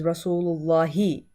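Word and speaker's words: رسولِ اللهِ: say rasullullah we say the proper way to say is Rasulullah he you have to say that he at the end result allahi so you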